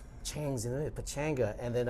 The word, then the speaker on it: Chang: the way, you know, in Korea and China, it's actually pronounced Chang, you know, so I am going to change my name and pronunciation, because everyone is supposed to be.